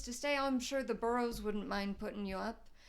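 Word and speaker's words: Burroughs: They're not um in a position of power or authority, but they're just like, "Oh, like that's uh uh those the burrows." Um, it's spelled uh B U R R O U G H SS.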